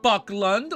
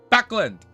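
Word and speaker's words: Backlund: Wait, no, it's not Buckland. Wait, hold up. I got it open. It's right here. Ready? Backland.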